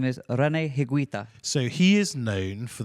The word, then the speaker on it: Higuita: His name is René Higuita.